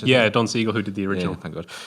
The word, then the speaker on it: Don Siegel: Is that how you pronounce it? Yeah, Don Siegel, who did the original.